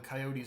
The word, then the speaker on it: coyote: Heard it pronounced both. Again, when I watch a Western show and they say coyote, but near Mexico or Latin America, I would say coyotes.